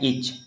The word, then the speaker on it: itch: है, तो यहाँ पे इच इसको पढ़ते हैं ना, टी तो नहीं लिखे, प्रोनाउंसिएशन में CH आ रहा है, तो CH की और ई लगा दिए, तो ये इच हो गया।